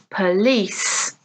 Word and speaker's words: police: Again, 2 syllables, tonight, but here the stress is on the second syllable. Letter, letter. Exam, exam. Dinner, dinner. Police, police.